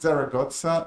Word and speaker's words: Zaragoza: He did his PhD thesis in the University of Zaragoza in Spain. Can I pronounce correctly?